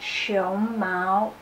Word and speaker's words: 胸毛: see it's very different so as you can see that show mo its second tone and first on and show Mao its first time and second time so it's actually just